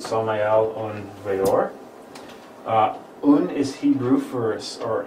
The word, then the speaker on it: Samael Aun Weor: If you're curious what the name means, it's Hebrew in origin, and that's how you pronounce it, Samael Aun Weor.